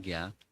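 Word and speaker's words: jña: It is manifest by Vyasadeva, because Vyasadeva saw being Trikala Gya. You know the meaning? Trikala Gya. Trikala Gya. Gya, that's the syllable J-N-A.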